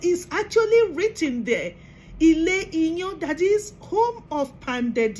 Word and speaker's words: Iyan: It is spelled as I-Y-A-N, Iyan.